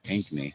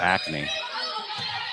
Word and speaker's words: Ankeny: was right before her Alina Ankeny which this sounds just like it's spelled pure game announcer announcer is Alina acne and the most unfortunate